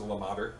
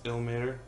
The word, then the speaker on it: Ilmater: I thought it was Lamater. I thought it was Lamar. It's not. Illumator? It's Ilmater because it's I-L-M-A-T-E-R.